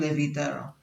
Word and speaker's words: Leviterra: The name comes from Levi, which means levitation, and terra, which means terrain. So the core concept is floating terrain, or floating islands, inside a never-ending universe. The pronunciation also has an Arabic tone, because I wanted the name to feel ancient and timeless.